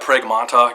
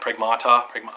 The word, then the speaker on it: Pragmata: Supposedly that Pragmata game, I think that's how you say it, Pragmata, whatever, from Capcom, it's coming to Switch 2.